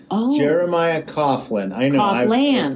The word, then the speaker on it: Jeremiah Coughlan: it's just my name so j-e-r-e-m-i-a-h okay c-o-u-g-h-l-a-n jeremiah coughlin so many syllables all right when i was a kid